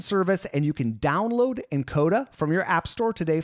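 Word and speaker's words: nKoda: lucky this episode is brought to you by encoder by the way that's spelled NK o da this app is like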